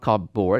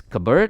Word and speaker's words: cupboard: Cupboard, it's not cupboard, it's cupboard.